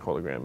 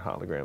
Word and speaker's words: hologram: Elon Musk it up there's actually two pronunciations of that word that are both fine like holy Graham and hologram they're both fine that's what I would